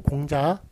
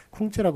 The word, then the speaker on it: 공자: 그래서 공자라고 쓰는 게 많고요. 쿵즈라고 쓰는 것이 아니라.